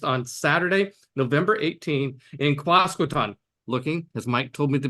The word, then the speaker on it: Quasqueton: In fact, I just asked him how to pronounce Quasqueton, which is how I've been pronouncing it for the last 40 years.